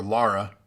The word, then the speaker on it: Lara: sonic but you should laura croft tomb raider or lara if you want to pronounce it correctly i guess the angry